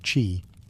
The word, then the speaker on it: qi: At the heart of acupuncture is the concept of qi, pronounced qi, the life force or energy that flows through the body along invisible channels called meridians.